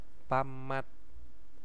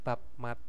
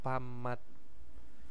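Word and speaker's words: 밥맛: ada pamat PAM ee Bacanya apa bamat Bukan bab Mat tapi bamat itu adalah rasa nasi atau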